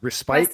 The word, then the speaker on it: respite: a word earlier uh respite is it pronounced respite or respit that's right respit yes so so what for